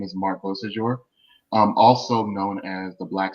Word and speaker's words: Beausejour: It's Beausejour. Oh, okay. Beausejour. So I'm gonna get that. It's 3 syllables, Beausejour. So once you put that together, there you go. It's French.